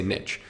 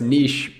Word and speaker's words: niche: I'm just gonna say niche. And then people were like, no, it's niche. So I say it niche, I pronounce it niche. For some people, it'll be niche.